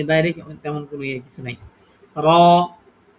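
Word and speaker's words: ر: করে হ্যা হ্যা এমনিতে যেমন আমরা বাংলায় র বলি এটাই শুধুকে একটু মোটা করে বলতে হবে এই ঠিক আছে এ বাইরে তেমন কোন কিছু নাই র র র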